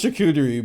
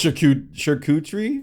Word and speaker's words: charcuterie: pronounce the i thought i thought it was chikuderi but it is sharkutri charcuterie charcuterie i wanted